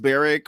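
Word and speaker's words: Barrack: is that not funny I'm sure it's pronounced Beric but is that not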